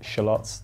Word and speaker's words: shallots: then some crispy l marinated shallots yes we pronounce it shallots that's the correct way to pronounce it you